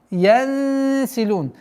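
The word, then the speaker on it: يَنسِلُونَ: Раббихим янсилун. Мягкое сокрытие в размере двух огласовок. Янсилун. При остановке аннулируется фатха, уходит в сукун, и долгота в размере двух огласовок даммы.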